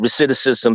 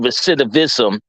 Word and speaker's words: recidivism: criminal reism I said reic ISM because that's how we pronounce it in DC it's actually recidivism but we don't like the V so I say reic